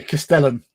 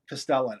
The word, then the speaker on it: Castellan: It's a Castellan. Castellan.